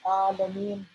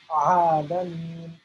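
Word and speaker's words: العالمين: So this letter A is written as A, but we are supposed to pronounce it as Ain, Ah, Ah. So to say Rabbil Alameen is incorrect. It is not correct to pronounce Alameen.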